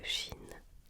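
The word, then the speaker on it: Qin: D'où vient le nom de Chine ? Chine s'est appelée ainsi après la première dynastie, la dynastie Kin dont le nom se prononce Chin.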